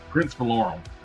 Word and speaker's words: Valorum: Prince Valorum.